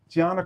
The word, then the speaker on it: Tiana: Tiana, right?